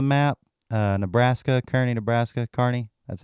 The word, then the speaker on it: Kearney: is on the map uh Nebraska Kearney Nebraska Kearney that's how you pronounce it Kearney Nebraska's on the map and